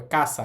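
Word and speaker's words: かさ: কখনোই এটা কসা হবে না। এটা হবে কাছা বা খাসা। যেটার অর্থ হচ্ছে ছাতা।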